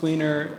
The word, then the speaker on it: Weiner: same day heard a lecture on Lawrence Weiner, or Wiener, I'm not sure how to pronounce. It's Wiener.